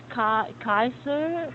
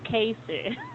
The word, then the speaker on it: Kaiser: Yes, some student will say, "Your name is Kaiser, Kaiser." No, it's Kaiser.